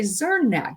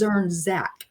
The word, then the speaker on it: Zernzach: I want to say Zernach, but it's Zernzach.